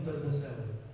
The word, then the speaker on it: AlDardasawi: I know my last name is very hard, so always they are having some problems pronouncing my last name. So if you remove the A out, it will be easier.